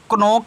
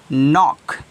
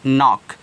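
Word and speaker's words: knock: के तो इसको आप कनक नहीं पढ़ोगे क्या पढ़ोगे इसको आप पढ़ोगे नॉक क्या पढ़ोगे नॉक यानी कि न के पहले के आया है तो के का उच्चारण नहीं होगा अब इसका य मत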